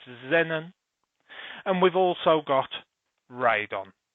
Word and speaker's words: xenon: krypton we've got xenon we use an x we pronounce it as a z so it's xenon and we've also got